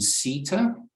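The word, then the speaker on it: CETA: general I might also at this point mention Sita which not a lot of people are familiar with it's spelled c-e-t-a if you choose to Google it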